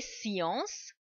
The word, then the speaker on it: sciences: Sometimes in the beginning, students, they start pronouncing that letter k as well. Like instead of saying science, they make one weird sound, science, or maybe descendre. No, it doesn't give that sound. SCE, it gives the sound s.